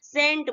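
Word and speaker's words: scent: तो ये हम क्या इसे रीड करेंगे इसको सेंट बोलेंगे ठीक है थर्ड चलते हैं थर्ड में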